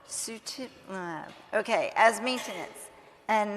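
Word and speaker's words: sutimlimab: it how do you say the drug sutimab sutimab okay as maintenance and not every other week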